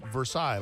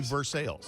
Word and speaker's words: Versailles: road named after it you would think it would be versaille like the treaty of versailles they say verse sales oh god i'm serious